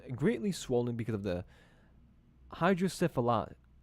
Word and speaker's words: hydrocephalus: The baby's head was greatly swollen because of the hydrocephalus. How do you say that? Pronunciation right there. The hydrocephalus. Not syphilis. Hydrocephalus.